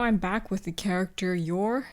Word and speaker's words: Yor: back with the character you're or yoru is how they pronounce it in the anime i started off by